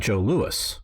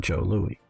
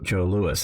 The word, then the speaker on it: Joe Louis: Well, he fought Joe Louis, not Joe Louis. Now, it's spelled the same way like Louis the 14th, but it's pronounced Joe Louis.